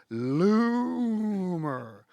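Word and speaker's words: Loomer: who is Laura lomer lumer by the way is spelled l o o o o o o o o o o o m r lomer Loom as in Doom she ran for congress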